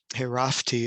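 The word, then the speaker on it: חֵרַפְתִּי: And you look at the intensity of this word, herafti, it would be really the correct pronunciation, herafti, and that is in a PL form.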